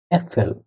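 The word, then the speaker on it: Äpfel: আ umlaut দিয়ে যেটার উচ্চারণ এ, ওটা দিয়ে একটা আছে আ umlaut এ এফ এ এল, উচ্চারণ হলো অ্যাপেল।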